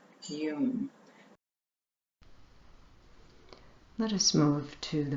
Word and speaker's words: YUM: That's spelled Y-U-M and pronounced YUM.